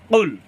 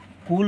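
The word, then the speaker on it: قُلْ: বলার চেষ্টা করবো আমরা জিহ্বার গোড়া তার বরাবর উপরের তালুর সঙ্গে লাগাইয়া মূলত কফ উচ্চারণ করতে হয় এখানে যদি আমরা কাফের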